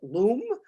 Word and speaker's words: loam: you want real soil often called loam some old-time Cape cotters pronounce it Loom uh or topsoil that